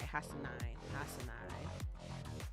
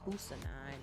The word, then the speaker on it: Hassanine: I gotta figure out how to say his name right. Hassanine. Cause I'm like trying to say Husanine or something like that. Hassanine.